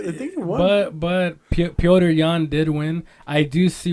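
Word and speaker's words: Petr Yan: Peter Yan is favored to win. Peter Yan's been on a fucking tear as of late. Or actually, it's Piotr Yan.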